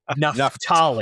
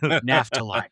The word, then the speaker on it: Naphtali: It is pronounced Naphtali. Ollie. Not Naphtali. It is Naphtali.